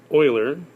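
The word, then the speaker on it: Euler: guy's name was Leonard Oiler pronounced like the old Houston Oilers before they became the Houston Texans this is way back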